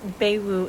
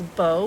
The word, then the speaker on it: Beau: should know better but the first name is not baewoo it's Beau like hair bow and then the last